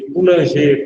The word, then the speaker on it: Coulanges: de Fustel de Coulanges, ou de Coulanger, como quiser. Meu francês é nada, né? Eu não falo francês, mas acredito que a pronúncia é Fustel de Coulanges.